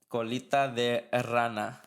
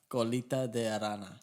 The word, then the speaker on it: colita de rana: Colita de rana. Colita de rana. Rana with the R. Rana. Not rana. Rana. Yeah, there you go.